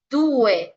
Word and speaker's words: due: Mientras no sea algo específico, se va a leer vocal por vocal. Por eso es due y no due.